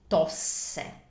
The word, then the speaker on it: tosse: That's tosse. Tosse. So these are two S's word. Per esempio, if we want to say the cough keeps him awake at night, that would be la tosse lo tiene sveglio di notte.